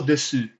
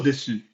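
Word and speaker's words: です: The u is silent, and there might also be cases where the I is silent. You can say that's how it was, or that's right, that's how it was, by saying so deshita, right?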